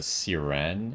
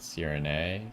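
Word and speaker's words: Sirène: Um, Ferso was saying this area as uh, Siren and not Sirin.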